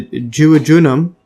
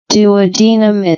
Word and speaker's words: duodenum: See the pronunciation here. Duodenum. Yeah, the duodenum is the first section of the small intestine. The duodenum. Jejunum. Jejunum is the second part, and the ileum. Ileum.